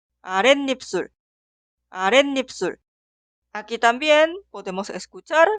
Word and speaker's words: 아랫입술: Escuchamos la pronunciación. 아랫입술, 아랫입술.